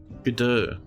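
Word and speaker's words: Godot: Yeah, I think um what's happening there originally was the um GDAU which I've been informed is the right way to pronounce it.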